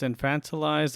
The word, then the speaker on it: infantilized: infantilized that's so hard is that how you pronounce that infantilized like infants yeah yeah student loan debt has infantilized a generation or more